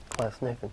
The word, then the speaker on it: Glasnevin: He's buried, I always mess up the pronunciation of this, Glasnevin. Glasnevin, yeah.